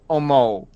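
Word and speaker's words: 思う: think something in Japanese you end it with Tull Oh Moe toe Oh moe Oh moe how you spell that following me there's an O at the end there toe Oh moe ooh not a Moe toe Oh moe there you go yeah okay uh Oscar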